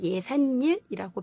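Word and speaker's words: 예삿일: 그래서 예산일이라고 발음을 한다.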